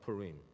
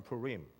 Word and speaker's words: Purim: I am in English could be pronounced in different ways but it's actually it's a it's a Hebrew background and when you have the ending like that it actually is a long I pull ring so something